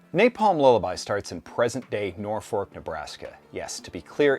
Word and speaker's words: Norfolk: Napalm Lullaby starts in present-day Norfolk, Nebraska. Yes, to be clear, it is not Norfolk. Yeah, I am from the Midwest, and it is pronounced Norfolk.